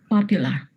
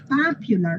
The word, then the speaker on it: popular: Bueno, pues con esa misma A van a decir popular, no popular, ¿ok?